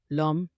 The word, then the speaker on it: l'homme: La letra H francesa es muda al comienzo de las palabras de origen latino, excepto en la combinación si y ach. Aquellas palabras que empiezan con H mudas se comportan como si no existiera la H, haciendo la liaison o la contracción con el artículo.